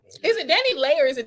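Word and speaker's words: DaniLeigh: Is it Danny Lay or is it Danny Lee?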